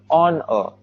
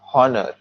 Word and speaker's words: honor: here the word honor the first letter is h but the h is silent so it it won't be heard we say honor not honor we'll be doing more